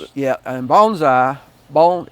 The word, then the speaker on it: bonsai: And bonsai bone, it's bonesai. It's pronounced. It means is that two different words added together? Uh two different words added together. Okay. Uh bone bone like a bone sigh and it um it